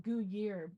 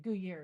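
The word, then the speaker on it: Gruyère: I pronounce it Gruyere. Yeah, I think you're right. Gruyere.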